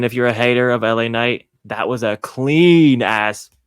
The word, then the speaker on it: LA Knight: for the US Championship we had La Knight that's that's that's how you say it without drinking haterade and having it in your system um versus Andre and